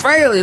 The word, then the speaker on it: Frehley: Frehley freely admits that Frehley is the proper pronunciation.